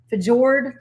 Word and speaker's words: fjord: Yeah, its location will allow for 2 fjord, how you pronounce that? Fjord entrances, treating travelers to scenic views as they sail in and It's out of the area. Fjord. Fjord? Yeah. Look at you. That's my Navy friend.